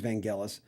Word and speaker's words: Vangelis: to say his name right because it is vangelis you look at the amount of compilation albums